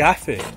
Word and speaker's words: hace: So the T-H, when there's an E after the C, or an I after the C, it's pronounced like the English T-H. But in the rest of the world, it would be hace.